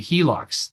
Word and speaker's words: HELOC: And things like home equity line of credits, the HELOCs, that's how you say it, it's an acronym, h e l o c, HELOC, home equity line of credit.